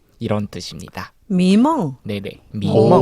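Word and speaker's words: 迷梦: 미멍. 오, 발음이 발음 그대로 좋으세요?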